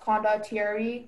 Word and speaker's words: condottieri: The word is pronounced condottieri, condottieri, condottieri.